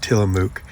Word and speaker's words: Tillamook: I kept pronouncing it wrong. And then I think I finally got it right, Tillamook.